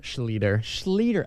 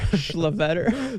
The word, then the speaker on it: Schlueter: Schlueter. I've been saying Schlueter in my head. Well, it's actually the correct German pronunciation is Schlueter, and then one of my